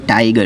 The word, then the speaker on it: tiger: यह ध्वन्यात्मक प्रतिलेखन "टाइगर" है। "टाइगर," इसलिए यहाँ 'r' एक ध्वनि है। क्षमा करें, यहाँ 'r' साइलेंट है।